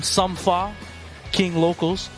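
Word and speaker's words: Sumfa King Locals: His team, Sumfa, King Locals. That's how you say it.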